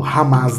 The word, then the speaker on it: Hamas: bom e ramá né a h a m a s ramá né É tá hamas mas el é pronunciado como ramas né então Israel versus ramas